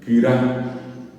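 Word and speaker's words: kyra: Kira, y se escribe K-U-R-A. K-U-R-A. Kira. Kira quiere decir gordo, gorda, gordo, gorda, obeso, obesa, ¿verdad? Gordo, kira, no lleva nasalidades, no lleva acentos, así como escuchan, kira.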